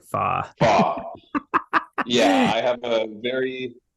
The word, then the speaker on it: Fach: Fach.